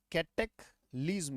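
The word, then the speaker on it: cataclysm: कैट एक लीजम तो उच्चारण क्या बन गया कैटेक लीजम कैटेक लीजम यह उच्चारण है बेटा जब तक उच्चारण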